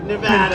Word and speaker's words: Nevada: and you always have to say it correctly Nevada including the fact that they've weaponized the Department